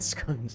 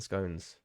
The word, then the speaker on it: scone: Wine and scones, or scones, however you want to say it. I never know how to say it. I say it however anybody else says it when I'm talking to them, because I never know how to say it. Depends on what part of the country you're from. Scone.